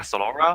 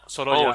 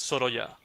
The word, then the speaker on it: Sorolla: pronounce this guy as a Sorolla? It's Sorolla. not like a Solora? No, Sorolla.